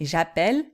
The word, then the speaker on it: j'appelle: vous faites bien attention, la prononciation est pas la même, c'est j'appelle, nous appelons. Tu appelles, vous appelez.